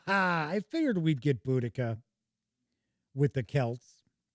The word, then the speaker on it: Boudica: Or Boudicca, or I know there's like umpteen different ways that her name has been spelt and pronounced. I always, most of the history shows that I've seen, always call her Boudica.